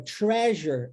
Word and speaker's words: treasure: Já a palavra treasure, olha que interessante, é o mesmo EA, mas pronuncia-se tre.